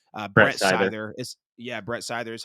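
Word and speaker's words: Seither: Scyther is Brett Scyther is how you say his name.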